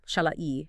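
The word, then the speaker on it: Shahlai: It's Shalai, if you're trying to pronounce it.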